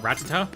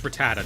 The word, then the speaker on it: Rattata: Rattata I Rattata's Rattata. I used to call it something else. I think I used to call it Ratata, but he's Rattata now in my mind.